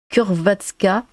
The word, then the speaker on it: Hrvatska: C'est comme Hrvatska qui se prononce à peu près Kurvatska. Ah oui, donc le H là c'est que en fait, ouais. Dans le H on entend un K finalement, mais c'est subtil.